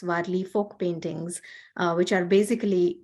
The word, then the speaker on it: Warli: The art is named after the tribe called Warli. It's spelled as W-A-R-L-I.